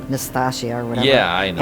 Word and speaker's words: Nastassja: I pronounce it as Natasha. Yeah, like I want to say Natasha, yeah, but Nastassja. But it's Nastassja.